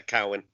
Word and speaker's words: Cowan: It's as it's spelled, yeah, Cowan. Cowan. You see, because I'm just... Everyone tries to be polite. You see, it says, is it Cowan? No, it's Cowan. It's as it's written.